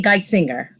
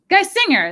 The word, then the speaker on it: Geisinger: Geisinger, am I saying that right? Good enough. Yeah. How do you say it? I say Geisinger. Geisinger. That sounds better. Like the things.